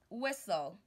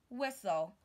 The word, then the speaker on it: whistle: lives in a castle another word is whistle whistle I can blow a whistle I can blow a